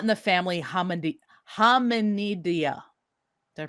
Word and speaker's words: Hominidae: Orangutans are primates, yes, but they are not in the family Hominidae. Did I pronounce it right? Hominidae.